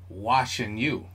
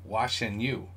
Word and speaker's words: 晨宇: Chenyu. Chenyu. See that? So in English, it's watching you. So it's Chenyu.